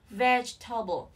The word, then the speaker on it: vegetable: Vegetable. Cái từ này chỉ có 3 âm tiết thôi. Vegetable. Vegetable, vegetable, okay, vegetable, vegetable. Trọng âm rơi vào âm tiết đầu tiên nhé.